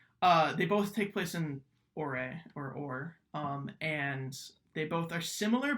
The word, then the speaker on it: Orre: I think it's spelled O-R-R-E, the Ore region.